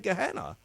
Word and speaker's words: Gehenna: to change his word gahanna it's said gehenna right right they left they